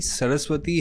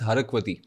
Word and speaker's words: सरस्वती: हैट सो वैसे ही सरस्वती has been miss pronounced as हरक वती okay that is द